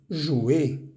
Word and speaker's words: jouer: Veamos que todos estos verbos terminan en ER. Grupo 1, no pronunciamos esa R. Encourager, éclater, travailler, jouer. No es jouer, ni travailler, ni éclater.